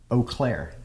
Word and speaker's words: Eau Claire: And as you said during introductions, you guys are from Eau Claire. Am I pronouncing that correctly?